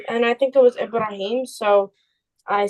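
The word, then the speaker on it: Ibrahim: the person's name in in Arabic his name is ibraim but in English his name is Abraham that's that's not a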